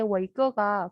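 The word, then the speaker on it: 伟哥: 그래서 사실 저는 중국에 살면서 이게 워이꺼가 그냥 원래부터 워이꺼고 굉장히 유명했던 브랜드여서 그렇게 의미 해석을 안 했는데 한국 분들이 저한테 이게 무슨 뜻이냐 이렇게 물어보시더라고요.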